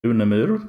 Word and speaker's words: Unemyr: say it in Swedish I pronounce it unamur but in English it usually becomes something like unamur or in English you're based in Sweden